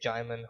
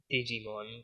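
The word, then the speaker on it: Djimon: think his name is Jaimon Honsu. I trust I'm pronouncing that correctly. I think I used to pronounce it Digimon, but then that didn't end up being right at all.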